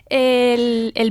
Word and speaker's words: est: leçon vamos a ver el verbo être, que es ser y estar, Sí. en la tercera persona del singular, que se dice e. Así de fácil. Se escribe est, pero se dice e.